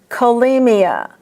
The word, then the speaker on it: cholemia: But most oftentimes, in medical words, the CH is pronounced as a K. Cholesterol, cholera, cholemia, cachexia.